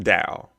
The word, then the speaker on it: DAO: that is leading the Dow this is pronounced Dow they would like The